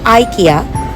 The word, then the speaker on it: IKEA: যার নাম হচ্ছে আইকিয়া। পৃথিবীর অন্যান্য কান্ট্রিতে এটাকে আইকয়া বলে। বাট জাপানিজদের ল্যাঙ্গুয়েজ বা ওদের প্রোনাউন্সিয়েশন অনুযায়ী ওরা এটাকে ইকয়া বলে থাকে।